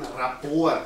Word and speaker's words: Rapport: Wenn Sie tatsächlich die Körpersprache eines anderen Menschen übernehmen, dann kommen Sie, wie es im NLP heißt, in einen sogenannten Rapport, das wird auf Französisch ausgesprochen, mit dem anderen.